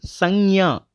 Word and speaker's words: संज्ञा: நவுனுக்கு ஹிந்தியில் சங்யா அப்படின்னு சொல்லுவாங்க. எப்படி ப்ரொனவுன்ஸ் பண்ணுறதுனா, ஃபர்ஸ்ட் லெட்டர் ச, மேலே புள்ளி இன், செகண்ட் லெட்டர் க்யா, ச இன் க்யா, சங்யா.